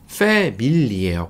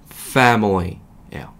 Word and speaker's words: family: 패밀리 아니고요. family예요. 뭐가 다르죠? F 발음 붙여주시고 패밀리 아니고 family예요. 멀리 저 멀리 할 때처럼 family 하시면 가장 정확한 발음이 됩니다.